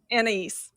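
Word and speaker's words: Anaïs: How do you pronounce her? Anais.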